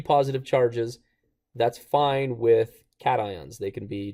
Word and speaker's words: cation: You pronounce it cat ions.